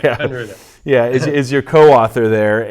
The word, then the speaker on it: Kunreuther: How do you pronounce it? Kunruther. Kunruther.